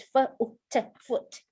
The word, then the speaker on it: foot: You see double O, but not all double O pronounced as long U. So this one is foot.